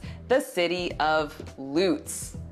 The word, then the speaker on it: Lutz: We will start with one that just about everybody mispronounces, the city of Lutz. It's spelled just like the ice skating jump, Lutz. But here it's pronounced Lutz.